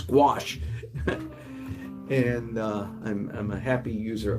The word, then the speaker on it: gouache: Anyway, for those of you who care, it is gouache.